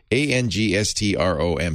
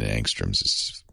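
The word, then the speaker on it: ångström: it's angstrom yeah angstrom a-n-g-s-t-r-o-m swedish word so the a has a little halo over it and the o has an umlaut so it's probably pronounced angstrom it's named after a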